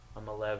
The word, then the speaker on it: Maleev: asked him, I said, how do you pronounce your name? He said Malev, so I'll take it right from the source that's how you pronounce his name.